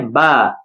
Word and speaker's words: با: تو وہ ہوگا بے۔ آپ خیال رکھیں اردو میں ہم بے پڑھتے ہیں، تو لہذا عربی میں بے نہیں با پڑھا جاتا ہے، تو یہ اس کی